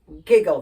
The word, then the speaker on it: giggle: e h giggle giggle giggle the GI should be a soft G but it's not it's a hard